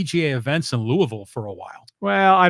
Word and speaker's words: Louisville: they'll be back in Louisville yeah how do you say it's not Louisville it's Louisville Louisville louville thanks SE next question